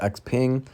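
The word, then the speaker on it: XPeng: call it xpev and it's obviously pronounced x-ping but what's going on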